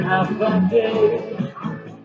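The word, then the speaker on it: Håfa Adai: Keep that letters I know you have heard, and the spelling A-F-double-A-D-A-I. It's as easy as 1, 2, 3. Just pronounce it as then half a day.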